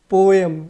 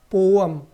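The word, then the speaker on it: poem: लेकिन क्या वाकई में ये पोयम है? तो देखते हैं क्या है इसका करेक्ट प्रोनाउंसिएशन। सो दोस्तों, इसको हम लोग पढ़ेंगे पोअम। बिल्कुल सही सुना आपने। क्या पढ़ेंगे इसको? पोअम। क्या पढ़ेंगे? पोअम।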